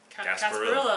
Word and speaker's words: Gasparilla: Gasparilla. Island Grill. Yeah, I said it right. Ish. So like sarsaparilla.